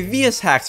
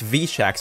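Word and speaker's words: VSHacks: upgrades by the way vs hacks would now be pronounced v-shacks from now on because it's funnier that way and everyone collectively agreed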